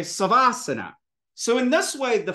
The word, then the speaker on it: savasana: Garuda Asana it's garudasana instead of saying Sava Asana you say savasana so in this way